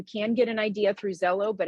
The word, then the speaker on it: Xello: anymore so what we utilize is zello and so students can access it through their waffle right in their gmail and it's spelled xello as you've seen and so